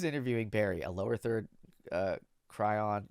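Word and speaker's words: chyron: A lower third Cryon, I think that's pronounced Cryon, reads, B.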